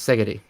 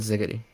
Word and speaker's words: Szegedi: Yeah, it's pronounced Szegedi, not Szegedi. Szegedi.